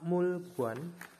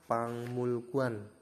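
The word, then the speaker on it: 박물관: terus ada lagi Pak pak mulguan ya pak mulguan pak mulguan itu dibacanya pangmulguan dari sini teman-teman sudah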